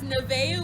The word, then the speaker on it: Nevaeh: name she's two years old her name is nevaeh we call her nunu that's when she goes